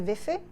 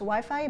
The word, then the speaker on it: Wi-Fi: Máte tady Wi-Fi? So it's not pronounced Wi-Fi, but Wi-Fi, as it is spelled.